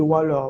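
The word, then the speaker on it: Whaller: Donc, je vais vous parler de Waller. Waller qui s'écrit W-H-A-2-L-E-R.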